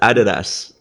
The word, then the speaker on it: Adidas: It is a German name pronounced Adidas. That is how you pronounce it.